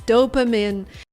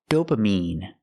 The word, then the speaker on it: dopamine: pronounced dopamine it's pronounced dopamine I have to use the long e sound like green beans dopamine I cannot use a short I sound like this is dopamin the word is pronounced dopamine what is dopamine it's